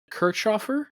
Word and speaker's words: Kirchhofer: Ollie Jarvis will join Marvin Kirchhofer. Did I pronounce that right?